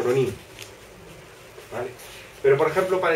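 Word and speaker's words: rōnin: La forma correcta de pronunciarlo en japonés es algo así como Ronin.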